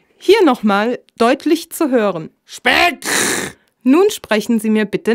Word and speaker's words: Speck: Im Hochdeutschen wird er Speck ausgesprochen. Das heißt Speck!